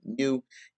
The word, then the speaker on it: mu: that's why it's got that greek u or i'll pronounce it mu equals some value so